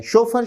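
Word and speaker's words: chauffeur: शोफर, option C, विद्यार्थी उच्चारण पर ध्यान दे, उच्चारण है शोफर।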